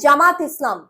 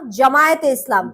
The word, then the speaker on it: জামায়াতে: এরপরে জামাত ইসলাম। জামাত ইসলাম না। জামায়াতে ইসলাম। ইয়াটা হবে। জামায়াত জামায়েতে ইসলাম। জামায়াত হ্যা জামায়াত হবে। জামাত ইসলাম হবে না।